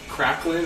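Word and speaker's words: craquelin: I just pronounce it as a kraken. I think it's like cracklin, or I'm sure that the French pronunciation is much different.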